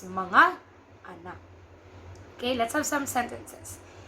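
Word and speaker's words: mga: you could just add the word manga it's pronounced as it's manga okay let's have some sentences foreign she is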